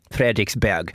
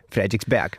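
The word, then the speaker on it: Frederiksberg: So basically one example is this famous Copenhagen station called Frederick'sburg and the day the Danes would of course pronounce the word be as in as in bag but in English you would say Frederick'sburg.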